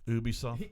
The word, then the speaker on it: Ubisoft: They would say Ubisoft. Ubisoft. Ubisoft, because they're French.